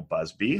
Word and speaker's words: Busby: a bus b no it has the z sound you had it right